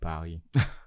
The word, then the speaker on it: Paris: But for the English speakers, it's Paris. But in Paris. French, you don't pronounce S at the end of a word.